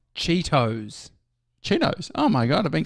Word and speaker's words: Cheetos: on their wi chips is this wrong Cheetos Cheetos oh my god I've been saying it wrong